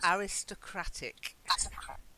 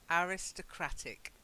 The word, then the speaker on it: aristocratic: be a little bit you have to just learn those two different pronunciations aristocracy the aristocracy are